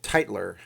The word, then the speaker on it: Teitler: Yes, my last name is pronounced Teitler.